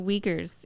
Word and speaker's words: Uyghur: in trouble with that it is one of the pronunciation is uyghur another pronunciation is if you say a soft a i'm good it's